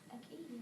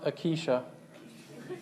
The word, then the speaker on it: acacia: Anyone know how to pronounce that word? Acacia. That tree? I had to look it up. It's pronounced acacia.